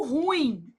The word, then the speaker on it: ruim: Por exemplo, quando você fala assim: "Ah, ela é muito ruim". Isso é um erro de prosódia. Você está pronunciando a palavra como paroxítona. E na verdade ela é uma oxítona.